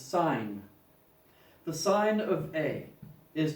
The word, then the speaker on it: sin: So we don't write sine, we just write S-I-N, and no, like this is not pronounced tan, this is not pronounced sin. This is tangent, this is sine.